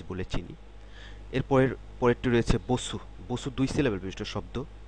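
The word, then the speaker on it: 버스: শব্দ বসু বুসু বুসু এটার উচ্চারণটা খেয়াল করেন বুসু বুসু এই শেষে যে এরকম একটা দাগ রয়েছে এটা আমি যখন উচ্চারণ এটা নিয়ে যখন আলোচনা করেছিলাম তখন বলেছিলাম এর উচ্চারণটা দাঁতের দুই পাটি লাগিয়ে রসুকারের উচ্চারণ করলে যেরকম হয় ঠিক সেরকম এটির উচ্চারণ হবে বুসু বসু দুই দুই সিলেবেল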